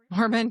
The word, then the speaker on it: Mormont: And then we've got this Zionetic Mormon brotherhood. Okay. And and this headquarters of this Rosacruian order of Zion was in Mormont. M O R M O N T pronounced Mormon.